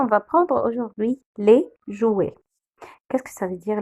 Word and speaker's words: jouets: Le S à la fin, on ne le prononce jamais.